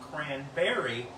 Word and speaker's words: Cranbeary: And she was born on Thanksgiving, and that's why she earned the name Cranberry. Hold on, it gets better. It's spelled B-E-A-R-Y.